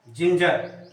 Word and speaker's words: ginger: GINGER, इसको क्या क्या प्रोनाउंसिएशन दिया गया, ज। तो हुआ क्या, जिंजर।